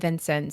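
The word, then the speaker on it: Vincennes: you Google it you will get four different pronunciations so we went to the source to the people and they said Vincent so you're going to have to take it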